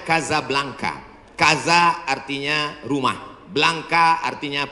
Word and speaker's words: Casablanca: nama negaranya Maroko ibukotanya tulisannya Casablanca cara bacanya Kasablanka Kaza artinya rumah blanka